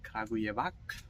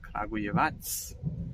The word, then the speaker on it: Kragujevac: So it is not called Kragujevac, but it is called Kragujevac. So the C is pronounced as th.